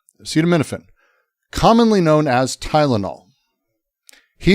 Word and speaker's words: acetaminophen: Acetaminophen.